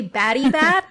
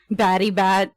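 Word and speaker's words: Batibat: Uh, so they they say baddybat. Battybat. And how the locals say it is batty bat.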